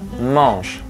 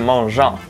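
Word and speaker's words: mangent: The first one, when ENT ends a conjugated verb, it is silent. For example, il parle, il mange. Okay? Not il parlante or il mangeant.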